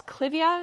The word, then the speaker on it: clivia: And then, is this clivia?